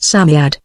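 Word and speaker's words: Psammead: was a samed or san faery samed is pronounced Samad it was old old old and its birthday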